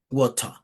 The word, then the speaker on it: water: Este acá le da como el sonido de una O abierta, water, water. En cambio acá, si es una A, water, water.